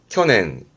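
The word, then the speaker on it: 去年: 그래서 발음이 켜낸 켜낸 가버린 해란 얘기니까 작년을 의미하지요.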